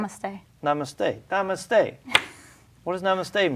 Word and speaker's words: namaste: good you look healthy take care of yourself namas did I say it right Namaste Namaste Namaste what does namaste mean uh you